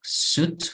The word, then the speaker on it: suit: Okay, and suitcase, the word suitcase, suit, fíjense cómo se pronuncia suit y no suite, ok, cuidado con la pronunciación porque suite es una suite, es como un apartamento, ¿no?